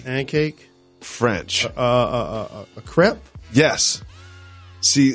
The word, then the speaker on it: crepe: A crepe? Yes. See, sometimes I've been guilty of saying crepe. Or crepe? Crepe. I'll say crepe. Crepe or crepe. I think it's crepe.